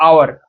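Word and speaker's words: hour: लेकिन जो साउंड करता है आवर, आवर या आर, क्या होता है? ओ आता है, लाइक इसका वोवेल साउंड है, एच साइलेंट हो जाता है, साउंड क्या है?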